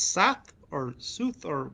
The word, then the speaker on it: Soth: It's Sath or Sooth, or how was it pronounced? Soth.